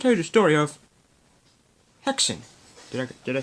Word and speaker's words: Häxan: In today's Silent Film Files, I'm going to tell you the story of Häxan.